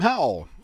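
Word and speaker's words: Hau: How do you even pronounce that? Howl? I'm Howl.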